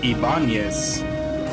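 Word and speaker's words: Ibáñez: Yeah, because, I mean, obviously the guitar company doesn't put the Enya over the N, but, you know, that last name is supposed to have it. It's Ibanez, but everybody always pronounces it Ibanez.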